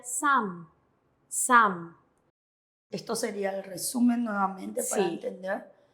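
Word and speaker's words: 삶: La riol con midan, la M es dominante, entonces se pronuncia sam.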